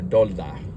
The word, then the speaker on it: DoorDash: personally did not like door Dash or DOA as uh as us Hispanics would say it right um but